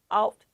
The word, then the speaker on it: ought: or brought or caught it should not not rhyme with sort or Fort you ought to go to work not you ought to go to work easy peasy alt not ort but did you know